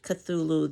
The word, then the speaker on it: Cthulhu: Part of his mythos is Cthulhu, and it is something that's not supposed to be able to be pronounced with the human tongue. So this is the closest that I suppose we could get to pronouncing it.